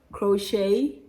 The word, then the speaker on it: crochet: t is pronounced incorrect although it is silent in the words ballet crochet sachet beret you see